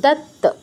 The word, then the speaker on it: দত্ত: তারপর কি আছে, তয়তো, এটা তো সহজ বাংলার মতোই, দুটো ত যুক্ত আছে, মানে দুইবার, মানে প্রথম টাচ তারপর পূর্ণ উচ্চারণ, দত্ত, দত্ত।